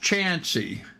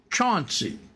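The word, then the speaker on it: Chauncey: c h a u ncy and um it's pronounced chansy but anybody that's not from the area see how it's spelled they're going to call it Chanty c h a u NC y which is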